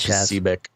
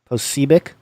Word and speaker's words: Posobiec: I like how I think it's pronounced Posebiec. Posebiec?